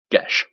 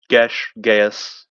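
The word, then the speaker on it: geas: Gish. Ghas. Take your pick on how you want to pronounce it. It's pronounced gash, but it's also pronounced gas by other people.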